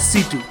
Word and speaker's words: C.C.: Spelled as C.C., but pronounced as C2 After the encounter with C.C., Lelouch gets this mysterious power called "Geass".